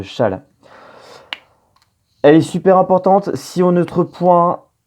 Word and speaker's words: Chasles: Alors ça s'écrit Chasles, mais ça se dit bien relation de Chasles.